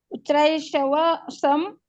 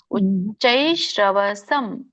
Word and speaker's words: ಉಚ್ಚೈಶ್ರವಸಂ: ಉಚ್ಚೈಷವ ಸಂ ಅಶ್ವಾನಾಂ. ಕರೆಕ್ಟ್ ಇದೆ. ಉಚ್ಚೈಶ್ರವಸಂ ಶ್ರ ಬರುತ್ತೆ. ಉಚ್ಚೈಶ್ರವಸಂ ಅದೇ ಶ ಮತ್ತೆ ಸ ಕೆ ವ್ಯತ್ಯಾಸ ನೀವು ಉಚ್ಚಾರಣೆ ಮಾಡುವಾಗ ಅಷ್ಟೇ.